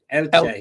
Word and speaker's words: Elche: And you should know, as an Eche fan, that is that how you pronounce it? Eche, is it? Elche. Oh, okay, right, yeah. Elche.